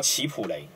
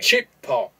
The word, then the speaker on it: Chipotle: 奇普雷，奇普雷的这个英文的发音哈、哎，它是从英文的发音转过来的。